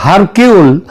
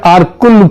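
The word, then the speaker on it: Hercule: এটা যদিও ওই উচ্চার উচ্চারণে এটা হয় হারকিউল কিন্তু একচুয়ালি উচ্চারণটা হচ্ছে আরকুল পোয়ারো তিনি যদি আজ বেঁচে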